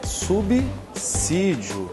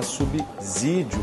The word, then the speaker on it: subsídio: bem a palavra é subsídio sim se lê Como se lê o s por exemplo em súmula sim o s com som de s não se pode falar subsídio coisíssima nenhuma E por